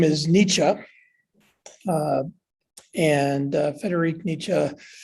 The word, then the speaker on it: Nietzsche: this book came about and of course the pronunciation of the philosopher's name for starters uh well the the name is nietzsche uh and uh federic nietzsche is a german